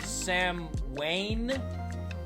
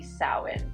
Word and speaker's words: Samhain: The pronunciation is typically Samhain. Samhain. Exactly, you got it. It's Samhain, like you just said. It's one of those words that looks one way but sounds another.